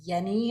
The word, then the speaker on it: Jenny: it was discovered by dr hans yenni it's spelt jenny j-e-n-n-y and what he